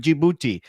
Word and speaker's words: Djibouti: It's pronounced it republic of Djibouti.